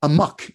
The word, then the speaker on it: Amok: How do you pronounce this? Amok or Amok? How do you say it? Amok in English.